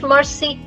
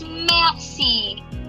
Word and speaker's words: merci: It's not English mercy. Please, no one writes mercy on chat. No, Vishal, no, it's not mercy. It's merci.